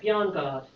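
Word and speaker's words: Bjarnegård: Ellen, and then do I pronounce it right? Bjarnagard.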